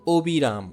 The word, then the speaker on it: অবিরাম: যদি শুরুতে যদি অ নাবোধক হয়, নেগেটিভ যদি হয় তাহলে সে অ উচ্চারণ অবিকৃত থাকবে। যেমন অবিরাম, অশুভ, এগুলো হচ্ছে নেগেটিভ শব্দ, তো এই ক্ষেত্রে অ ও এর মতোই থাকবে।